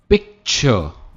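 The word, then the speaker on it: picture: पिक्चर मैंने कहा था सी मैक्सिमम इंग्लिश वर्ड्स में के की तरह प्रोनाउंस होता है, इट्स पिक्चर, हम आर को प्रोनाउंस नहीं करते, इट्स पिक्चर। तो मेरे ख्याल से आपने अभी तक इसे पिक्चर कहा है, बट इसकी सही प्रोनाउंसिएशन है पिक्चर एंड नॉट पिक्चर।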